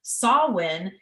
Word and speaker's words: Samhain: spelled um s-a-m-h-a-i-n and it's pronounced saw like as like the the tool that you would use to cut a tree down right win like Yay celebrate so um I know